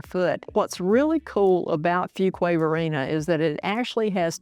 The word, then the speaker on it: Fuquay Varina: Fuquay Varina. I'll say it slow because if you're new here, you're going to mispronounce it. Fuquay Varina, one of the best values left in Wake County.